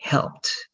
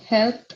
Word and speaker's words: helped: be only left so it's going to be helped and that word correct very good just the